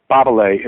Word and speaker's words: Babele: Babele is how they say it in Romanian.